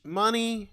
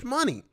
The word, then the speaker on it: Shmoney: But then I read it, and I'm like, is it money? Is it money? Or is the SH silent? Like, is this the Hindu pronunciation of money?